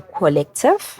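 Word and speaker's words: Qollective: creative officer of the collective yes is that is it col cuz it's spelled with a q but it's sounded with the c the collective Collective um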